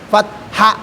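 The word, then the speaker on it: فتح: Jadi fat amas dan diakhiri, ya, dengan pengucapan ha, fat.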